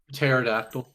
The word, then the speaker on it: pterodactyl: That's like silent letters are so bastardized to me. Um, Pterodactyl. like why does it even need it? Why does it need a P at the front?